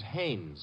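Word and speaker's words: Haines: Not Hines. Hannes. Couldn't be. Honeyberg. No, it couldn't be. The name is Hannes.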